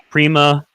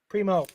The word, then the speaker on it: Primo: Kyrie Irving, Josh Prima. Is that how you say his name? Or Primo? Primo.